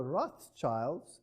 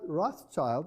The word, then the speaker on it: Rothschild: Now, this word Rothschild is, of course, a total mispronunciation. It's a German word, and it means Rothschild, and Rot is red, and Schild is a shield.